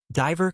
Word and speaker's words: diver: The main difference isn't actually the but the vowel that comes before it. River comes from the base word. Short vowel e. Diver comes from the verb dive with a long vowel i.